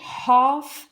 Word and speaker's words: half: Et puis, la dose de pilule, half a pill. Half a pill. On prononce bien le ha avec un H et on ne prononce pas le L.